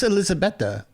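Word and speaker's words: Elisabeta: And and as I look it up, it is Elizabetha because it is spelled E L I S A B E T A.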